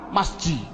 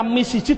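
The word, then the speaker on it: مسجد: Adapun depan ada tulisan mim sim jim dal, bacanya apa? Masjid. Mengapa kok dibaca masjid? Mbok dibaca misjid saja.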